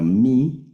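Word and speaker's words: μι: es como nuestra m, la letra mi como nuestra m, luego la letra ni como nuestra n, la letra ni, la letra xi que es nuestra x, ¿verdad?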